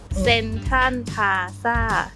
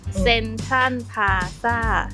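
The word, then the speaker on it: Central Plaza: 센트럴로 발음하지 않고 태국식으로 하면 센딴 정도로 발음을 합니다. 중간에 오는 R 발음은 정확하게 혀를 굴려 R 음을 내기도 하지만 생략하기도 합니다. 직접 들어보실까요? 센탄 파사, 센탄 파사, 센탄 파사.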